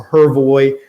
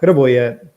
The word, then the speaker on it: Hrvoje: my name correctly, so Hrvoje or, is what I revert to even myself, but Hrvoje is the correct pronunciation.